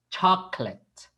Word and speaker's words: chocolate: Don't pronounce too much the O. Okay, this O here in co. Okay, co. Chocolate. Very quick.